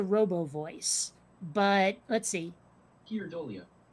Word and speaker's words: Keir Dullea: I think both vowel sounds have to be pronounced somewhere.